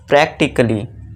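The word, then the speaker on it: practically: अब यहाँ पे दोस्तों फिर से ए के बाद डबल एल वाई है तो ये जो है ए साइलेंट हो जाएगा। तो इसे क्या पढ़ेंगे, प्रैक्टिकली।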